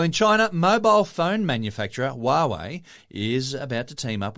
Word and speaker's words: Huawei: streets of America asking people, how do you pronounce this word, showing them the spelling, because Huawei doesn't say Huawei to me.